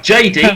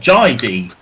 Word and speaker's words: Jai D: Not that JD, because that's how you mispronounce it, but Jai D.